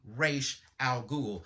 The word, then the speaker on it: Ra's al Ghul: And ever since that movie came out, everyone pronounced it wrong. I mean, they even made it a point in other mediums to say that it's commonly mispronounced. It's actually Ra's al Ghul.